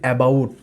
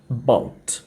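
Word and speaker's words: about: তার মানে প্রথম দিকে কিন্তু খুবই এটা উইক হয়ে যাচ্ছে, এটা দুর্বল হয়ে যাচ্ছে।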